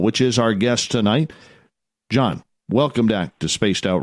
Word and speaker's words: Gian: I should also mention you can find all of John's books on Amazon, so make sure you go check them out. John is spelled Gian.